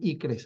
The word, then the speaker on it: ICCRS: Sus cifras ICCRS, le decían ICRES, así para que pudiéramos pronunciar, ¿no?